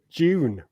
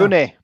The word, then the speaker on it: Dune: Have you seen the trailer for June? I think we were sure. June. Now. Is that one before July? August now, isn't it? Yeah. Dune.